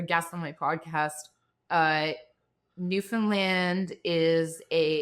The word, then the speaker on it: Newfoundland: what I would say Newfoundland, but you seem to make it into one syllable somehow. New land.